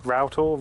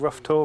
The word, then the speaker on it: Rough Tor: That's routtor rough tour, whichever you want to pronounce it as.